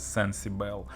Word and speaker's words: Cencibel: yet another tripovine model I suppose it should be pronounced as sensible and unlike the rhombus